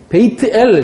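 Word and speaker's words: בית אל: 베이트 엘. 저 써놨죠? 베이트가 뭐예요? 하나님의 집이라니까요. 그게 아까 베이트 요거를 베이트라고 읽는 거예요.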